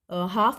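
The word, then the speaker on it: half: जैसे कि हाफ में एच साइलेंट है, आर में हाफ में एल साइलेंट है और आर में एच साइलेंट है।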